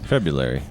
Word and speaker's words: February: you say it right February yeah but it's spelled different I know there's no l there's no l in the way that it's spelled right and there's too many RS that's the other problem